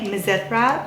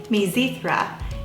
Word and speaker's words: Mizithra: Now you'll notice that I say Mizithra, but it's truly pronounced Mizithra.